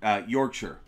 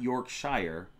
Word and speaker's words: Yorkshire: And by the way, Keith says I'm saying it right. Yorkshire, not Yorkshire, even though that's how it's read. It's Yorkshire.